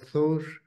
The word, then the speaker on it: Thor: that the name of the god Thor rhymes with bjór or beer.